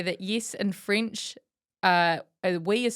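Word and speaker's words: oui: yes in French uh we is spelled we and it's pronounced we e. We Yes. We in in hindsight I actually as in we are the champions.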